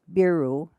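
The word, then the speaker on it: ビール: rice green tea and beer pronounced beeru were the usual drinks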